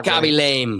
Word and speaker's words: Khaby Lame: is this really how you pronounce this guy's name when you say it? Yeah, Khaby lame.